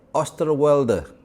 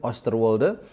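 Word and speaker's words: Oosterwolde: akan bisa membantu kita yaitu Jaden Osterwe. Nah, bacanya seperti itu ya. Tadi gua udah cek berkali-kali. Jaden Osterwe. Lebih lebih lengkapnya Jaden Queen Oster Wolde.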